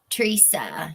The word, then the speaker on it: Teresa: watch it with us Teresa tresa you pronounce my name tresa tresa okay thank you